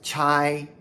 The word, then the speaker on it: 差: But if pronounced chai, it can mean to run errands or a job.